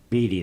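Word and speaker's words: Beattie: Beatty is how they pronounce it.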